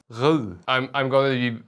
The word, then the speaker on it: Rode: No, I am apparently not allowed to say Rode. It's Rode.